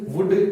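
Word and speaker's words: would: ये जो कुड है इसमें ध्यान रखना है एल साइलेंट रहता है। कुड, शुड, वुड, कभी भी इसको कुल्ड, शुल्ड, वुल्ड ऐसे मत प्रोनाउंस करना।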